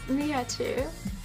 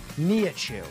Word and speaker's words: Nihachu: Can you give me the official pronunciation? It's Nihachu. Nihachu.